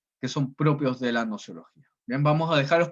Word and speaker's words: gnoseología: La G no se pronuncia, es nociología, que viene del griego gnosis, que significa conocimiento.